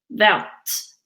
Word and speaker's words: verte: E pour féminin but the only ones the pronunciation will change are the ones we did. Verte, violette, blanche et grise.